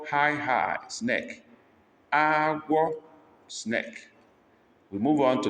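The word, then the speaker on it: agwọ: Number 12, agua, agua, high, high, snake. Agua, snake.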